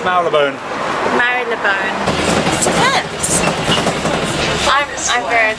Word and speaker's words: Marylebone: How do you pronounce Marylebone?